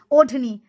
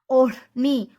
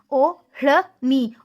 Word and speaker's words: odhni: O-r-ni. Odhni. You never say odhni.